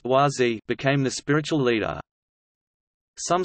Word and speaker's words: Wah Z: Gross, spiritual name, Dap Bren, succeeded him until October 22, 1981, when Klemp, spiritual name, YZ, pronounced YZ, became the spiritual leader.